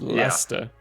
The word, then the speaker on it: Leicester: So yes, it's pronounced the way Brolog did. Leicester. Leicester. It's Leicester.